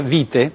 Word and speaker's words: vitae: En Italia nadie diría curriculum vitae, pero diría vite, porque el diptongo AE se pronuncia E en latín, así como el diptongo OE.